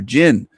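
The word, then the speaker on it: Djin: The the Islamists, the Muslims say they're jin. D J I N. I think it's spelled Jin. The D is silent.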